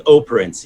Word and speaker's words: Operencia: Is that how you say it? Operencia? Is that the right? It's actually Operencia.